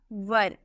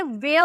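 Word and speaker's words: were: यूज करोगे वॉज या वर। बहुत लोग इसे वेयर प्रोनाउंस करते हैं, वेयर नहीं होता है। वेयर यानी कि कहाँ, WHERE वेयर हो जाएगा, WH फैमिली वर्ड। इसे हम प्रोनाउंस करते हैं वर।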